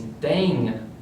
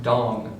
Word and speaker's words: Dang: His name is Dang." "It's pronounced Dong," her mother corrects her.